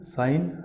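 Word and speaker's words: sign: अच्छा, यहाँ पर जब GN लास्ट में आ जाता है तो G साइलेंट हो जाता है, N के बाद निकलेगी खाली, साइन, रेन, रेन।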